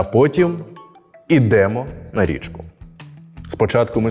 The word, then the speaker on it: ідемо: майже потрапив веземо Ідемо дієслова із закінченням емо імо і то наголошується остання частина я запам'ятав дієслова з